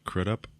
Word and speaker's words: Crudup: a shot of Billy crudup how do you say his name um what did you say crit up there you go okay we got a